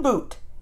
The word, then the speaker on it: Bhoot: what this is about phone boot not like Booth boot Ready Go the magic